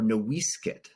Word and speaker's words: NoiseCat: that meant something thing because noisecat or nosit as the name was originally pronounced before the missionaries messed it up it nearly died out